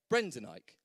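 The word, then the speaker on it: Brendan Eich: this man covered denier brendanike so one ike and the other one e i c h easily done obviously so same phonetically um if you want to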